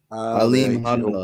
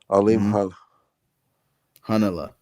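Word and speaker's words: Alimkhanuly: Yeah, it's Hanala. Alim Hanala. The KH. Alim Hanala.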